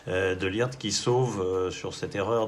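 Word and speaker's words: de Ligt: ma taille de l'IRT si on prononce à la Néerlandaise de lire qui sauve sur cette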